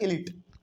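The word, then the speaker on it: elite: restricted to द इलीट कोई बहुत सारे लोग इसको इलाइट भी पढ़ते हैं लेकिन इसका असल कहने का मतलब होता है इलीट इसको हम लोग प्रोनाउंस करते हैं इलीट के तौर पे अब यहां पे क्या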